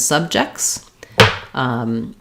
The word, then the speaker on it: subject: we're talking about plurals, we have first syllable stress, subject. It's not really that different. So we would have first syllable stress, the stress schwa, the j sound, and the kt subject.